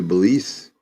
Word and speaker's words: Belize: He rides all the way to I don't know Belize. if I'm saying that right, but however you say it, Belize, is that right? Yeah, you said it right.